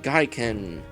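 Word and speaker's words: Geiken: But the next game I'm going to be streaming is an RPG Maker VX Ace game called Gaiken. That is spelled G-E-I-K-E-N.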